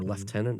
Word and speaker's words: lieutenant: confirmed Harry's rank as a lieutenant or leftenant as the English pronounce it Stan is a sergeant